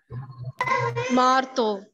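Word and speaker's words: marteau: Marto. Very good. So whenever there is an EAU sound, whenever there is EAU, it becomes O.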